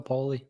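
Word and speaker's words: Poile: Nashville was Dave poy I think you say poy is pronounced yeah po poy same yeah he's going into the Hall of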